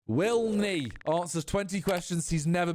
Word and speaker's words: WillNE: Just to clear up Willneff is Willneff. I just I just pronounced it like that.